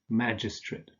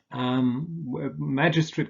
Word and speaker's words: magistrate: You would say climate, senate, prelate, magistrate. Magistrate can also be pronounced magistrate, by the way.